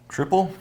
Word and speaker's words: Tripel: So this is a, how do you pronounce Trippel? Tripel? Tripel. It's a Tripel with blood orange zest and coriander in it. It's triple. We're going with triple.